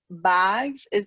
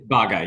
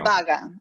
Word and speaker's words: Bagga: And with that, I think that sort of gives a good entry to introduce Amit Bags. Am I pronouncing that correctly? Amit Bagga? It's Bagga, yes, thank you. Bagga, okay.